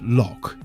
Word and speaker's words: lough: The Irish word lough is pronounced loch.